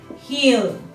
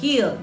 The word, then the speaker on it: he'll: He'll. Ojo con la pronunciación. He'll, no hell, porque eso es diferente, ¿no? He'll, con la L al final.